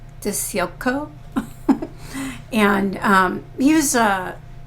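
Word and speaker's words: DiCicco: She married a guy named Pat Dio. I guess that's how you pronounce it. D I C I C O. Dio.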